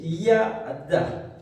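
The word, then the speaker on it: ידה: qui décrit la louange ça se prononce comme ceci yada qui veut dire louer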